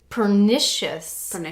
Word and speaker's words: pernicious: So we are talking right now about our second type of anemia, which is called pernicious.